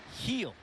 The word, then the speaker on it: Gil: His debut is today, and yeah, it's pronounced Heel.